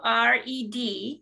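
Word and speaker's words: WRED: of directors and w r e d is one of several acronyms you're going to hear today and we just call it red because the W is silent like Ren or wreck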